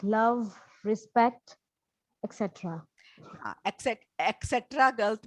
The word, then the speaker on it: etc.: things like love, respect, etc. Etc. गलत pronunciation बोलिए. It is ETCETE etc. Not K की आवाज नहीं है, T की है.